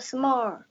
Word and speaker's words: small: You will not pronounce the last letter with R sound. You will pronounce it with L sound.